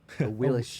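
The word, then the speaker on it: Awilix: Yeah, Wait, again, a Willix or Royal Willis? Champion. A willish.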